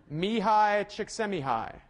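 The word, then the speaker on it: Mihaly Csikszentmihalyi: then this guy whose name I will now pronounce for you me hi chick semi-high yeah yeah that was not easy and actually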